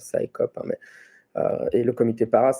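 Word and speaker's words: CSICOP: donc en français XICOP, en anglais ça se prononce SciCop, hein, et le Comité Para, est clairement évident dans les noms d'origine des deux associations.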